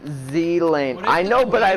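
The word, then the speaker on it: Ghislaine: like this guy's um the s in gizlane is silent it's pronounced zealand i know but i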